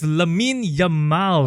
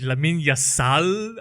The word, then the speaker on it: Lamine Yamal: and the most famous of them all is Lamine Yamal. Oh yeah, the one that you pronounced wrongly lah. Yes, I know last week, for those of you who watched last week, I apologize. I mentioned Lamine Yassal.